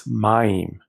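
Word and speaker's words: מַיִם: The word for water is mayim.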